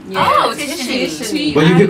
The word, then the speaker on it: Tishany: Oh, my name Tishany. Okay. And it's not Tishany. No, Tishany. It's Tishany. Yeah. Oh, Tishany.